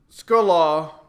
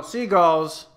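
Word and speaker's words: Segall: biography that Ken uh skulla is that how you say his name no seagulls uh Ken seagull's book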